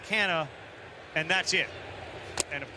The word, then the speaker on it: Canha: He started to explain to us the Portuguese heritage, and it's really Canha, but since we've been in America, our kids have been raised this way. His wife came out and said it's Canha, and that's it.